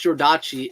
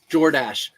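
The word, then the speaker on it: Jordache: at the name but the way you pronounce jchi is jordash again if you're joking then please disregard Danny uh if you're just now joining yeah we talked about it earlier someone talked about um um jackets like stuff from back then and I said jchi and they're like it's not jchi it's like jordash I said it's Jord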